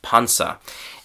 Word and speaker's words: Panzer: The German word, uh, German pronunciation, sorry, is pansa. And so, in English, we just, as I said, we say panzer.